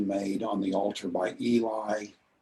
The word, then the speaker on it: Eli: on the altar by eli or aylie perhaps you pronounce his name was as atoning